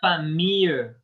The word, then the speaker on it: famille: Famille. La WL ne se prononce pas. Ok. Famille. No, yo sigo escuchando la L ahí. No suena la L.